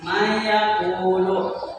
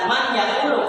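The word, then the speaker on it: من يقول: Nah, secara kita yang biasa membaca itu harusnya kan ini dibaca man yaqulu. Kenapa? Ada nun mati itu dibacanya man, terus rupanya ada ya. Nah, karena ini adalah menjadi salah satu huruf atau contoh daripada idgham, sedangkan ketika terjadi hukum idgham di suatu kalimat, maka makhrajul matinya itu dan tanwinnya itu harus dimasukkan ke dalam huruf idgham.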